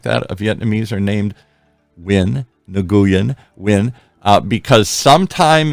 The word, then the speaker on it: Nguyen: on the station when you see nulan it's win don't you know how to pronounce Vietnamese names Dr Tren here H you are more Vietnamese than I new Yen new Yen but yes it's you're like totally